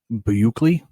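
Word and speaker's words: Buechele: I don't know I'm I'm reading how to pronounce this guy's name it's Shane bukley Buckley yeah is it Buckley or Buckley b-u-e c-h-e-l-e he's uh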